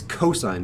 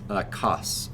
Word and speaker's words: cosine: so cosine is cos I pronounce this cosine not cuss or Coast's so this